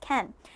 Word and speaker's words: can: reminding you that can okay it's pronounced Ken let's go into the